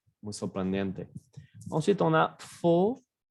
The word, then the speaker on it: faux: Ensuite, on a faux, fausse. Ahí también cambia mucho la pronunciación en masculino y femenino.